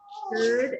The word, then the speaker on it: should: Should and could. Yes, they have L's, but we do not hear the L. So this is kind of like this and like this. Should and could.